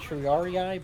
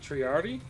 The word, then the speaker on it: triarii: I meant more like triarii but you know Ferrari is okay mean triari triari cuz that's how that's how they say it in uh Rome in Rome Total War I know they say